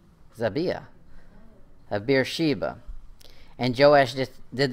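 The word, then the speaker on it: Zibiah: Jerusalem's mother name was xàbia Zibby oh yeah my pronunciation says the first eye is long the second eye is short in the a is short as I BIA BIA xàbia of Beersheba and joash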